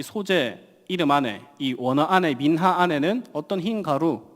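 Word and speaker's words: מנחה: 마찬가지로이 히브리어 원어로 보면이 소재는 뭘로 되어 있냐면은 바로 이미지 보면은 민하라고 되어 있습니다. 민하 민하 이쁘죠? 소재 발음이 민하입니다.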